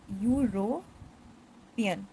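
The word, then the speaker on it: European: क्योंकि इसका जो लाइक साउंड है ये क्या है? साउंड इसका यू है।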